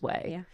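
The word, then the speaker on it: Ouai: now you see way there it's always always way so you might not know what it uh is pronounced like so I was going to say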